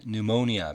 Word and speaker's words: pneumonia: 자, 위에 있는 세 단어는 parole, 가석방, 그다음에 salient, 두드러진, 그다음에 pneumonia, 피는 묵음입니다.